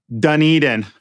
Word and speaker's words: Dunedin: How do you pronounce that? Dunedin.